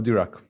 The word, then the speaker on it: Dirac: Oh, Dirac. Okay, Dirac. Yeah. It's like American pronunciation of Dirac, but yeah, Dirac.